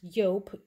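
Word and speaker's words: Joop: anyone has tried and i think it's pronounced yo j-o-o-p i have that one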